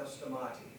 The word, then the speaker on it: Stamati: It used to be Stanley, it's now Stamati. Samati. That's the Greek pronunciation.